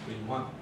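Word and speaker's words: Brillouin: It's probably Brion, something like that, since the French never pronounce double L. They always, double L is like a Y, so Brion. But we always call it Brion in America.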